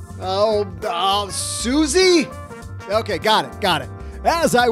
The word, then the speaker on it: Suze: welcome to the basement Suze Orman. What? What do you mean that's not how you pronounce it? Susie?